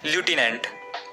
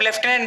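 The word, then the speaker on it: lieutenant: जिनमें आते हैं लूटने इसे अब लेफ्टिनेंट भी प्रोनाउंस किया जाता है इसमें कंफ्यूज होने की जरूरत नहीं है बेसिकली अमेरिकन इंग्लिश में इसे एज लूटने प्रोनाउंस किया जाता है और ब्रिटिश इंग्लिश में लेफ्टिनेंट इसलिए सभी कॉमनवेल्थ कंट्रीज में इसे एज लेफ्टिनेंट प्रोनाउंस किया जाता है एंड फॉर the same reason India में भी लेफ्टिनेंट ही बोला जाता है लेफ्टिनेंट को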